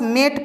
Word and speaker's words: mete: जैसे यहाँ पे METE, हम लोग बस मेट पढ़ें, यहाँ पे ई को नहीं पढ़ रहे हैं।